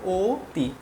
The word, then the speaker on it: অতি: হ্যা যদি আমি লিখি অতি হ্যা এখানে দেখো এইযে রসইকার আছে সে কষেত্রে শব্দের উচ্চারণ হবে ওতি বুঝতে পেরেছ আশা করি